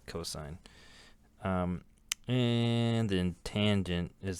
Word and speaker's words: cos: shortened to C but some people call it cost but that's kind of tacky I would call it cosine um and then tangent